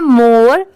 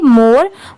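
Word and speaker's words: more: ई इसे क्या पढ़ेंगे मोर बहुत सारे लोग इसे मोरे पढ़ते हैं बट नहीं यहां पर आर ई की साउंड रे की नहीं नहीं आएगी बस र की आएगी इसलिए इसे क्या पढ़ेंगे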